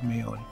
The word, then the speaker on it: Maione: a guy named harry miony i may not be pronouncing it right m-a-i-o-n-e it sounds like mayon he was called happy